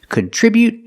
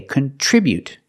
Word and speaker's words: contribute: Today, we're practicing with these two words, contribute and contribution. The pronunciation is a little different. So, let's get started. With a verb, we say contribute. We put the stress on the second syllable.